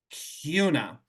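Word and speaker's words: Kuna: n a but it's rhymes with tuna Cuna um and our high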